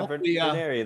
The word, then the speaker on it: Vener: Um uh Vener, if I'm pronouncing that right, I hope. Yeah, Vener. That's that's right.